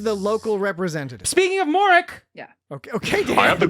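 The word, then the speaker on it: Mauric: it'll get very far or is it moric or Ambassador moric is it moric moric each three different ways pronounced very differently Moro moric and moric it's a big ship yeah I thought it was moric that's how moric sounds reasonable yeah it's spelled m a u r i c does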